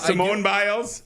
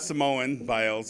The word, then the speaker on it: Simone Biles: I I do have Simone biles I do have clips of your mispronunciations I cannone there you go not Samoan biles I don't even know